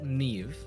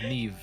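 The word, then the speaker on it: Niamh: And there's not even like when you pronounce it, I don't even hear the V there. I hear F. Like what the hell? Yeah, it's very subtle. Yeah. Nev.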